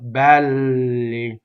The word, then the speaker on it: belli: So open E, double L. Belli.